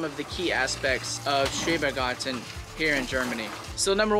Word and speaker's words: Schrebergarten: concept, and the name of the garden is Schrebergarten. How do you say it? Schrebergarten.